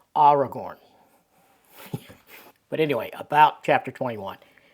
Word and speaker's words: Aragorn: It's not Aragorn, it's Aragorn.